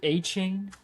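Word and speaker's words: Etienne: Didn't he say you need to pronounce it a chain? Good luck, buddy. He went on a press conference and he was like, "It's actually a chain."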